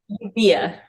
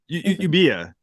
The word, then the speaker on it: Euboea: How do you pronounce it? Euboea. Euboea.